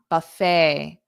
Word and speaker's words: buffet: array of food so notice array has the same sound as buffet buffet aray the buffet repeat